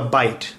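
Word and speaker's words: bight: knots first we have a bite that's spelled bi ght and a bite is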